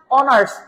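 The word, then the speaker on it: honours: এবার দেখেন ওয়ানার্স, ওয়ানার্স আমরা এটাকে হনার্স কেউ বলি না, কি বলি? অনার্স, অনারারি, ওয়ানারারি, ওয়ানারেবল।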